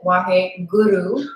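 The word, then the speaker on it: Waheguru: So this is sort of the pronunciation here. Wa. You want to get the kind of sound with it. Wahe Guru.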